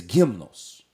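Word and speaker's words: γυμνός: the Greek word gymnos I have a tough time pronouncing gymnos if we were reading Spanish we'd say him though or an English gym and all of them are a little bit different than the Greek is gimnos and what the word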